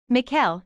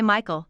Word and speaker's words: Mikhail: what's your middle name Mikhail he says people always mispronounce it and say Michael though gets annoying miles Mikhail